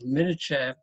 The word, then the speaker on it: milcha: I think it is coming from al-mal kulle, the all money, but they transfer it to milcha because they pronounce K as ch in local language.